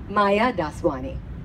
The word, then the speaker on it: Maya Daswani: And I have to say the D of Daswani.